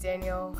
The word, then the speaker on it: Daniel: in my life that my middle name wasn't pronounced Danielle it was pronounced Daniel and I hate how